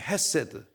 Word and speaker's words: 헤세드: 찬양단 이름이잖아요 무슨 찬양단 헤세드 찬양단 다 함께 헤세드 세드 이게 그 한국어 없는 발음이라 히 발음이 좀 억세게 나와요 막 안에 뭐가 나오면